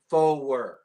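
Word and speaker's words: four: 4, forward. You're turning it into a 2-syllable word. That way it's easier to understand.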